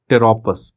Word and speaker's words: Pteropus: is from a genus Pteropus, Pteropus. Please remember that P is silent. Like in PSM, P is not silent. In Pteropus, the P is silent.